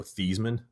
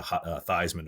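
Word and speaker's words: Theismann: the same way that Joe Thyman is actually Joe Thesman. Did you know that? No, that's cool though. Yeah, Notre Dame, somebody in their PR department changed it to Thyisman to rhyme with Heisman.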